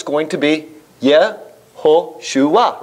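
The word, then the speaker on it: יהושע: If you see the name Joshua, it's going to be Yehoshua, right?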